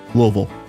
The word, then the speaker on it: Louisville: good time and for those that are not aware it is loville the less syllables you can put into that word the more correct you are in saying it we have family